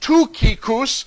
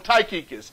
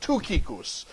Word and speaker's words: Tychicus: actually uh in the Greek his name is pronounced TUS but for the sake of sounding funny while I preach we're just going to call him taus but his name is actually pronounced tuus tuus okay taus is only mentioned five times